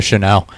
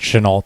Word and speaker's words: Shenault: Solid week from Visca Shenault. Chenault. Sorry, I keep trying to French it out, but I think it's accidentally pronounced Chenault.